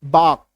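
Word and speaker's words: bark: तरीके से देखो, एक्चुअली इसको बार्क ऐसा बोला जाता है। बार्क थोड़ा सा हम लोग इसको अवॉइड करेंगे, तो आर को हल्का सा साइलेंट करेंगे, सेमी साइलेंट।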